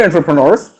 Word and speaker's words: entrepreneur: Do you know entrepreneurs? Yeah. Or From on TV. how is it pronounced? Now, Entrepreneur. no, that it was my mistake. I pronounced it in a mistake. It is entrepreneur.